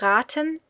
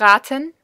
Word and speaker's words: raten: Now, one short note on pronunciation: make sure that you pronounce the a long and not short, because then you would get raten, which is, it's not a verb.